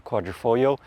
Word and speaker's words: Quadrifoglio: 2024 Alfa Romeo Giulia Quadrifoglio, and I hope I've been pronouncing that correctly. Apparently, you're not supposed to say the G on the L at the end.